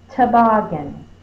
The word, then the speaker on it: toboggan: So bog is going to be my stressed syllable, not to.